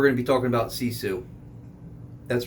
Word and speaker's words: Sisu: buttons today we're going to be talking about cesu that's right s i suu if anyone ask you yeah did you see cesu what's cisu cesu how you spell that s i s